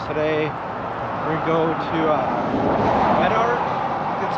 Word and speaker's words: Medart: We're go to uh Menart. That's how you pronounce it. Menart.